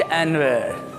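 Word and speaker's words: Anwar: अनवर उर्दू में हमारे यहाँ अनवर ही चलता है, लेकिन अंग्रेज इसको एनवर बोलेंगे। क्रिकेट में आपने सुना होगा कमेंटेटर्स को, Saeed अनवर, अनवर इज़ my best friend.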